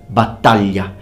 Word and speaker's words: battaglia: Now the word battaglia means battle, and please notice that the GL is pronounced ly, battaglia.